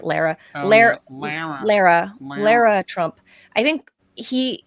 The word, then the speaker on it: Lara: and look at the Laura Trump thing again. I want to be sure. But yeah, I don't remember it, to be honest. He gave Lara Trump, I think she pronounces it Lara.